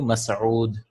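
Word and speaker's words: مسعود: Like the word, the name Mas'ud. Yeah. In colloquial, it's like Masood, Masood. It's actually Mas'ud.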